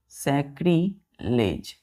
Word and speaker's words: sacrilege: Spelling ध्यान से देखिए SACRILEGE सैक्रिलेज।